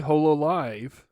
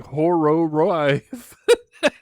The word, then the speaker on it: Hololive: to no, yeah, definitely, it's supposed to be pronounced with the L sound.